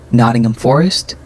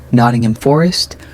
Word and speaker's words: Nottingham Forest: Nottingham Forest. Nottingham Forest. Reduce ham to aim. Stress first syllables.